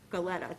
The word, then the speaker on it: Galetta: Galetta, that's how you pronounce it, Galetta, and Mrs.